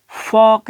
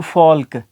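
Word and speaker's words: folk: इसी तरीके से जो नेक्स्ट जो वर्ड है फॉक, अब देखिए ये फॉक है, तो इसको हम फॉक पढ़ेंगे, फॉक, ना कि फॉल्क।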